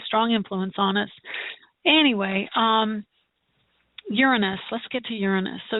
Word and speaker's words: Uranus: So it is Uranus commonly, but it is Uranus for astrologers and even astronomers now.